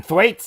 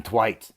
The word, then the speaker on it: Thwaites: tv series titans man brenton thwaites i think that's how you say it he's from queensland so it's probably flights hi my name's brenton brenton twice that's a hard name